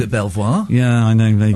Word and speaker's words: Belvoir: It's from it's spelled Belvoir but it's pronounced beaver. Uh and yeah, as in beautiful view, but it's just I've always called it Belvoir.